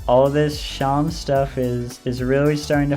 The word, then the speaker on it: Seam: I remember something, but the name's Sham, pronounced Sham, and this is my little shop.